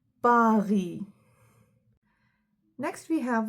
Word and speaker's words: Paris: For example, porte, pomme, Paris. In English, we have a bit of aspiration. We'd say Paris. But in French, we'd say Paris.